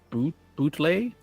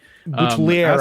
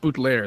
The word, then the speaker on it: Boutelier: It's from Alex Boutlay. I don't know if you know that guy. Boutelier, I think Erik, it's pronounced. Boutelier, that's right.